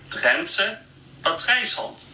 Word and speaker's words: Drentse patrijshond: minute, and I'm going to have a guy pronounce it for you because I do not know how to say this. Drentse patrijshond.